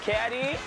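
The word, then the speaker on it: CAWGY: My name is C-A-W-G-Y, pronounced Caddy, and let the games begin.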